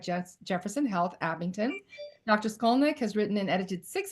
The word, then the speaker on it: Skolnik: Skolnick.